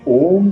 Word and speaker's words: ओम: भी हुई है कि ओम का उच्चारण में जो एक साउंड आती है इसको कहते हैं हमिंग साउंड पहले हम करें ओ इसके बाद एक हमिंग साउंड विकसित हो रही है वो मुंह बंद करने के बाद नाक से जवा